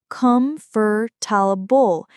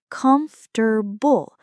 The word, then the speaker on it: comfortable: If you said 4, comfortable, you're thinking like a Portuguese speaker. But native English speakers, we say it with 3 syllables, comfortable. We literally swallow the or and the This is why English